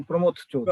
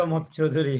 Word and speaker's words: প্রমথ চৌধুরী: তো সেখানে আলম ভাই উচ্চারণ করলেন প্রমথ চৌধুরী। প্রমোদ চৌধুরী হ্যাঁ, হুম, আমিও খেয়াল করলাম এটা। নামটা হওয়া উচিত প্রমথ চৌধুরী।